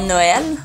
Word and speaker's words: Noël: On doit généralement placer un tréma sur les lettres I, E et U lorsqu'on veut signaler que la voyelle qui précède le tréma se prononce séparément. On va l'utiliser pour le E dans Noël, pour le I dans aïeux,